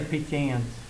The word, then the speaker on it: pecan: Pronounce it wherever you're from. People from down south, it only has one syllable. People that want to speak perfectly has 2 syllables. Huh? I say pecans, but I'm a degenerate,